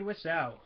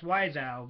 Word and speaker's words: Wiseau: And today we will be talking about, you guessed it, The Room by Tommy Wiseau, which I always pronounce Wiseau because that's how it's spelled, but no, it's Wiseau.